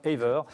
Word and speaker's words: Aver: Vous prononcez comme ça d'ailleurs? C'est ça. Aver, tout simplement.